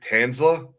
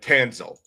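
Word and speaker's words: Tanselle: Tanza, is that how you say your name? Uh Tanzel.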